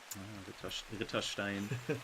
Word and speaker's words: Ritterstein: The trick is just pronounce it exactly the way that it's written. Mm-hmm. There are no silent letters in there, no silent vowels, nothing. It's just exactly as it is written.